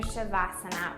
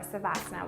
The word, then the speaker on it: Savasana: So I'm going to walk you through how to go into your Shavasana or Savasana, whichever pronunciation you like better.